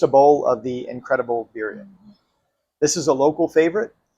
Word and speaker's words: birria: Number 5, back to tacos, and specifically birria. If you love birria, then Versailles has the Birria for you. Birria? Am I saying that right? You really need to learn how to roll your R's.